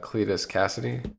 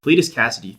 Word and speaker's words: Cletus Kasady: pressure I'm almost worried I'm gonna say his name wrong its Cletus Kasady Cletus Kasady thank you so I read it it makes